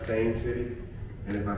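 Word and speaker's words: Steyn City: But yeah, this is this is Stein City and that's what I see too, but it's pronounced Stain City. And if I say if I say Stein City, they're going to correct me.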